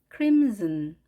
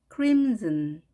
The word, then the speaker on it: crimson: 다홍색 crimson, crimson. 보통 한국말로는 crimson이라고 말을 하는데 영어 발음은 z로 발음됩니다.